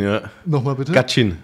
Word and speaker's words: Gachyn: Und damit heiße ich dich hier willkommen, lieber Vladislav Gachin, ist das richtig ausgesprochen? Vladislav Gachin, ja. Nochmal bitte? Gachin. Gachin.